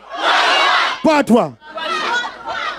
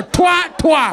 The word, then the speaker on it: Patwa: Patwa. Say it right. What, patwa? No, twa, twa.